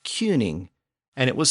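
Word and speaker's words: cyning: same word King again the original Old English version was spelled c y ning pronounced cuning but that sound eventually shifted to the I sound of King so by the end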